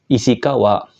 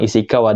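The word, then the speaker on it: 石川: kayak gini ya Minasa dia akan dibaca isikawa kunyominya ya minasang isikawa dan ini adalah salah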